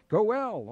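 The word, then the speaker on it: Goel: biological systems with NS Gail I think that's how that's pronounced goe l is that correct dr. Thompson well Gowell of course I knew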